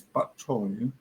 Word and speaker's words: bok choy: Its pronunciation in Cantonese, bok choy.